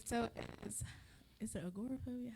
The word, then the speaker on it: agoraphobia: I was basically going to say, so is it agoraphobia? How is it pronounced? Yeah, agoraphobia.